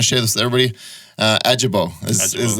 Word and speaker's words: Ajibowu: Ajibowu is how you pronounce the last name.